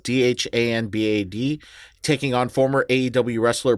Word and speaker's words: Dhanbad: I'm going to mispronounce this place. In Danbad, Dhanbad, taking on former AEW wrestler Parker Bordeaux.